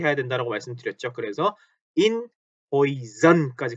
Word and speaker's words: Häuser: Häuser 이렇게 die Häuser 하고 아 umlaut에다가 에까지 붙어서 Häuser 발음 조심하셔야 되죠.